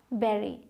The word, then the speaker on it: bury: यहाँ यू है लेकिन इसका साउंड है ए का, बेरी। ही has learned to बेरी his feelings.